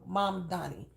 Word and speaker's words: Mamdani: But if the ideals and the policies of Zohran Mamdani, am I saying his name wrong? Because I don't want to say it wrong. Mamdani.